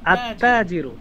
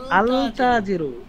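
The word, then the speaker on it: التاجر: উচ্চারণ উচ্চারণ হবে না যেমন আত্তাজিরু শব্দটা হবে আত্তাজিরু ব্যবসায়ীটি এখন যদি আমি বলি আলতাজিরু তাহলে বুঝতে হবে যে আমি মূর্খতা এটা মূর্খতাও করলাম এতে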